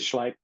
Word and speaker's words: Schleip: I can never pronounce the doctor's name. It is Schleip.